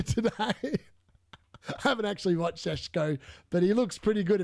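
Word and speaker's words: Šeško: We all know that even though we've signed, and apparently it's pronounced Sheshko, not Sesko, not Tesco.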